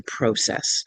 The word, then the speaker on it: Process: thing that Bill said, it should be pronounced the English way, the process.